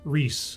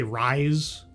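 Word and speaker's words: Rhys: So, uh Oh, and and it's spelled RH YS Ree. Matthew Reese like I always want to say Rise, but it's Ree as far as I understand it.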